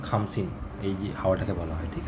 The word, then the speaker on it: খামসিন: ঠিক আছে মনে রাখবে এটা কামসিন সরি খামসিন কে এইচ খ উচ্চারণ হবে খামসিন এই হাওয়াটাকে বলা হয়